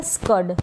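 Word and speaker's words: scud: यहां पर यह जो एस है इसको आधे स के रूप में प्रोनाउंस किया जा रहा है। और इस सी का उच्चारण क हो रहा है। और यह जो यू है इसको हम अ पढ़ रहे हैं। क्योंकि दोनों तरफ क्या है? व्यंजन है। कसोनेंट है।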